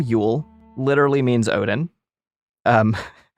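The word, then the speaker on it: Jól: It's pronounced basically ule from Old Norse.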